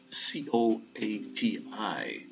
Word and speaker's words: coati: So I've got another video coming up with a little Mexican raccoons, they're called, I guess, the coati, C-O-A-T-I, pronounced with a Q, I guess, in front, coati.